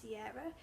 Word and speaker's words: Kira: It's spelled Kira, but in the back it says it's pronounced Sierra, who is a daughter